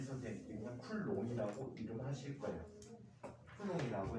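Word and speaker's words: Coulomb: 쿨롱이라고 하는데 이 가장 뒤에 있는 비자음은 프랑스에서 다 묵음이야. 맨 글자 뒤에 있는 자음은 다 묵음이야. 그 다음에 여기 N이나 M이 끝에 있으면 얘는 음발음이나 얘 음이라는 발음 끼우거든. 음발음이나 그래서 풀롱이 맞아.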